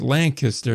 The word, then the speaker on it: Lancaster: It's pronounced Lancaster now. Now, of course, they could just spell it phonetically so that way everybody else could pronounce the correct way.